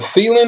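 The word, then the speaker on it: Thielen: yards and then the the Vikings receiving a feelin is how you say his name I know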